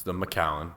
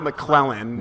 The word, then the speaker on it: Macallan: with the great Macallan it's The Macallan not mcclelland as i mcclellan not McCown v:v McCown v Macallan that's how you pronounce it twelve to twelve